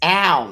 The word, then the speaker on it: Al: know spell it phonetically it's Al not L Al hold on hold on